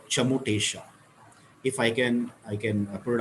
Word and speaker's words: Chamotesha: This sound is called Chamotesha. If I can put it up in English, spell it out in English. It is CHA Cha, MO Mo TE A SHA. Chamotesha.